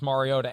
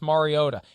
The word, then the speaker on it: Mariota: to play and they're going to unleash marcus mariota and thank you for pronouncing it mariota i i don't want to